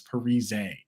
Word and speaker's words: Parise: let you guys know everyone's been saying my name wrong the entire time it's Parise and the entire world